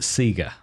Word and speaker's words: Sega: Well, in fact, in Australia, we pronounce it Sega.